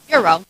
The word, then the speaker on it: gyro: Gyro. Giro. Well, how do you say it? Euro.